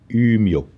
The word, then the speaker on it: Umeå: And you pronounce this town Umeå. Oh, trying that. From a lot of throat action again.